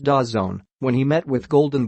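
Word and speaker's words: DAZN: an aggressive offer for da ZN pronounced das zone when he met with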